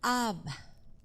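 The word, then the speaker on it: אב: Esta Aleph y esta Bet, cuando se juntan, se pronuncian Ab.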